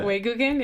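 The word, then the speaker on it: 외국인: Yeah, Weiguken, yeah.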